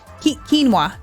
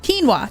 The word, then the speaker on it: quinoa: quinoa I I got someone corrected me about saying queen queen how do you say it quinoa quinoa quinoa I think you can say it both ways right brennis I feel like